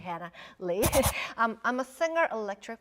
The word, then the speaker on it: Hannah Lee: Hannah Lee um well in Korean like it pronounces so um people think um my surname is he and some people call me but it's actually Hannah Lee um I'm a singer